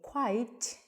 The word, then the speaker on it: quite: And then quite the other one is shorter.